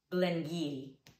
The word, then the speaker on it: Glen Garioch: And finally, we have Glen Garioch.